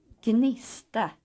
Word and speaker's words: gnista: If gn stands at the beginning of a word, both sounds are pronounced, as in gnista, gnida.